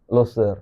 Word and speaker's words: Leuser: Loser apa Loser bacanya? Loser.